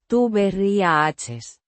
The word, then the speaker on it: tuberías: Tuberías. With the stress on the. Ri. Syllable.